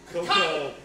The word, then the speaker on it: cacao: Cocoa. It's pronounced cocoa.